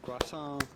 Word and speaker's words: croissant: it croissant, croissant, croissant, croissant. Well, essentially, if you are able to pronounce the French R like the French do, just say croissant. Croissant. The T at the end of croissant is definitely silent, so